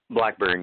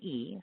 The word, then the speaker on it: Blackbyrne: you, just because, and I'm going to guess it's Blackbyrne. Did I pronounce that right? I don't want to screw it up. Yeah, Blackbyrne, yeah. Okay, good. Which is Blackbyrne.